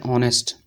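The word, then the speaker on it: honest: जैसे अगर हम बात करें ऑनेस्ट, ऑनेस्ट इसको क्या बोलते हैं ऑनेस्ट, ऑनेस्ट।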